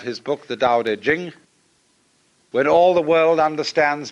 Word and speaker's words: jing: it's pronounced d and jing. There is no apostrophe after the ch. So if there were it would be pronouncedqing but it's jing like a j.